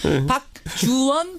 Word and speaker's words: 박주원: 제가 여기서 여러분 발음을 잘해야 돼요. 박주원하고 박지원은 전혀 다른 사람입니다. 박주선도 다른 사람. 박주선도 다른 사람이고요. 박주원, 박지원. 예.